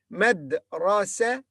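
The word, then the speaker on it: مدرستي: Madrasati. It became here open ta after it was tied ta or ta marbuta.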